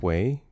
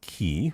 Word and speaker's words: quay: I didn't like Quay. Uh, say it with me now. With a Q. With a Q. Quay. Quay. Quay. Not key.